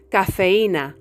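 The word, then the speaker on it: cafeína: Always pronounced for example in English we say cafeine cafeine whereas in spanish we say cafeina Cafe and not keina as an english native speaker would intuitively pronounce it the letter H is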